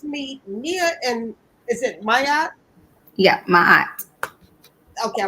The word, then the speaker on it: Ma'at: So let's meet Nia and is it Maya?